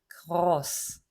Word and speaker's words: groß: 생긴 건 이래도 사실은 S가 두 개 있는 것과 같다고 하셨잖아요. 네, 근데 생긴 것만 봐요. 생긴 게 하나잖아요. 그러면 우린 자음 하나로 칩니다. gross 이렇게 되는 발음이에요.